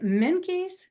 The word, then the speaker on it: Menkes: wonderful gentleman here is and is it minky yes you pronounced it right for first time right um